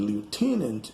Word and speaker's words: lieutenant: ago a moment ago the t in the words moment and lieutenant is not pronounced it's very common in words that have n t in the end or even in the middle like winter or winter